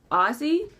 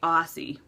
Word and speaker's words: Aussie: Apparently I pronounce it Ozzy. No, apparently I pronounce it Ozzy, like Ozzy Osbourne. But she wants me to say Aussie.